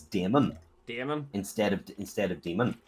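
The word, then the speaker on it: Daimon: which is why I've always referred to him as Damon.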